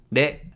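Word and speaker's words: れ: De. De is pronounced like a combination of re in wretch and le in lead.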